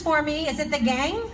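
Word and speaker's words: qeej: Is it the gang? How do you pronounce it?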